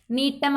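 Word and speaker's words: Gnetum: அந்த ஜி வந்து சைலண்ட், நீட்டெல்ஸ் நீட்டம் அப்படின்னு தான் ப்ரொனவுன்ஸ் பண்ணணும்.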